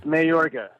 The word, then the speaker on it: Mayorga: It's Mayorga.